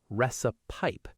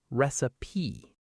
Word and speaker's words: recipe: A lot of learners pronounce the last part like pipe. Recipe. But it's actually softer. Recipe.